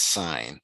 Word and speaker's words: sine: them all okay identify sine j as a fraction so it's not sin it's sign it's red it's it's pronounced sine it's written s i n okay so sine j